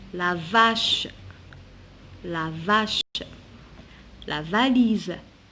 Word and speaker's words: valise: On a la voiture, la vache, la vache, la valise. Ici, je prononce SZ parce qu'il est entre deux voyelles. Quand on trouve un S entre deux voyelles, je prononce le SZ.